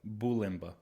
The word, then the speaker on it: Bulymba: Bulymba.